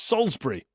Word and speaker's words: Salisbury: That's very close. It's Salisbury. Salisbury. So, I'm going to give you that one. I'm going to give you that one. Okay. There was no Alice in the middle of it, so we'll do it.